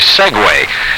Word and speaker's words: segue: we call uninterrupted music is a segue it's spelled s-e-g-u-e and